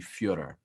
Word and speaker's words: Fyodor: It's actually Fyodor.